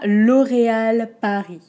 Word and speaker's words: L'Oréal Paris: ans ensuite on à l'oréal paris ok law ray al pas pris l'eau au très fermé ray très fermé aussi à l'oréal a ri on n'entend pas le s de paris l'oréal l'oreal paris l'oréal